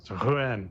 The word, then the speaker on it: Ruen: Closer by calling me Ru cuz it's Ruen. So ru that is is much closer.